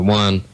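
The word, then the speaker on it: Juan: One has been doing it for quite some time, and the one I'm talking about, his name is One. The O-N-E is J-U-A-N, which is sometimes pronounced one.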